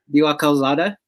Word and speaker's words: Calzada: Calzada.